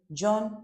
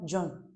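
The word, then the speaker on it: jaune: They maintain the same spelling and pronunciation for both masculine and feminine. So, it's very important. Then the last here, John. John.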